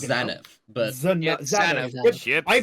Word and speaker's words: Zanuff: Jade, Who is Chip Zanuff? that is correct. That can't be how you pronounce his last name.